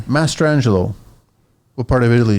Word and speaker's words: Mastrangelo: How do you pronounce last name? Mastrangelo. Mastrangelo.